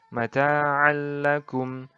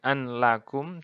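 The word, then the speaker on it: مَتَاعًا لَّكُمْ: Mata'allakum. Nah, jadi bukan an lakum, tapi dileburkan masuk ke lam ini langsung. Jadi mata'allakum.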